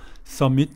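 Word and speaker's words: submit: 하기로 하다 이런 뜻인데요 발음은 써밋 이렇게 됩니다 엑센트가 뒤에 있어요 미세 그리고 비는 중간에 삐는 묵음 이 소리가 안나요 선 및 이렇게 됩니다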